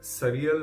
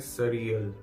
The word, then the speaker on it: surreal: बात की, इसमें एक सरियल वर्ड का भी इस्तेमाल होता है, SURREAL। अब सरियल का मतलब, इसको प्रोनाउंस जो करते हैं वो कहते हैं सरियल, सरियल, सोरियाल नहीं करते हैं, सरियल करते हैं।